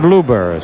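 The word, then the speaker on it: Luebber: number 23 out there number 23 Steve Luber 6 3 195 pounds he's the third Minnesota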